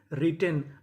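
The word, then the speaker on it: written: डब्ल्यू आर I double T ई एन रिटेन।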